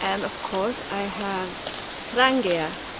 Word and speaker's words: Trangia: have hilleberg hilleberg and of course i have trangia trangia there is a knife maker call hultafors hultafors